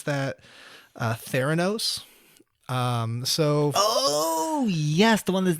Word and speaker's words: Theranos: This is the podcast about Elizabeth Holmes and how do you pronounce that? Theranos.